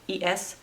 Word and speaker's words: es: But when they want to say es, like es, meaning is, they usually say e. You're gonna hear like que eso. Que es eso? They'll say que eso.